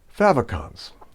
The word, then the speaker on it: favicon: color on light backgrounds favicons we'll end our journey with the humble little favicon fab rhymes with have short for favorite icon these tiny nuggets of